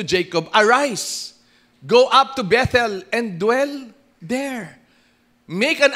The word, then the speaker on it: Bethel: na imbis manilan sa Bethel that's the right pronunciation po Bethel tuma tandaan niyo ho p lalayo ka sa